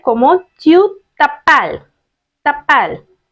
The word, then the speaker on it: t'appelles: you will raise a question like comment tu t'appelles? T'appelles. T and R together you have to pronounce t'appelles.